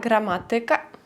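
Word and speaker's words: gramatyka: пам'ятати і розуміти що іменники які закінчуються на ікка за винятком слова музика ораз Паприка будуть мати наголос не на перед останній склад як більшість слів польській мові а далі напевно вже Вам вирішувати Як вам говорити звикати але правильно казати математика фізика політика мами тутй приклад польська граматика Бачите я навіть на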